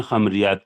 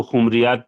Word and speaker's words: خمریات: تک نہیں تھا، لیکن خمریات کے بہت بڑے شاعر ہیں۔ بہت سے لوگ اس کو خمریات پڑھتے ہیں، لیکن صحیح تلفظ خمریات پڑھیے گا آپ، ورنہ معنی بدل جائیں گے۔ رئیس احمد جعفری ندوی